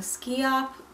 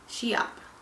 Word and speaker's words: Schiap: I think it's pronounced Schiap. Some people were saying Skee-opp, but the SCH is usually pronounced like with the sh, Schiap. So, like schizophrenic.